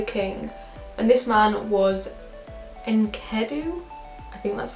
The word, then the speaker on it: Enkidu: And this man was Enkidu, I think that's how you pronounce it, and he lived in the woods in the wild with the animals.